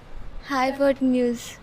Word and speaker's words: hypotenuse: Pronunciate again. Hypotenuse.